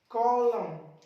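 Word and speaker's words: column: देखो एम के बाद एन मिल रहा है, चुप कर दो इसको, ऑटम, कॉलम, शोलम, हिम, हिम पढ़ेंगे।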